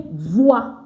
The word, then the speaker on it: voiture: pronounce car, you say voiture. Do you see it? Voiture. So this is just giving you instances. It's pronounced voix. It's just giving instances of, OI, wa. OI, wa.